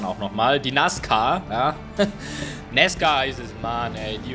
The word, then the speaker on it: NASCAR: Ja, und da wird Anna, sagt es dann auch nochmal, die NASCAR, ja, NASCAR heißt es, Mann, ey, die und ihre Aussprache ist der Wahnsinn.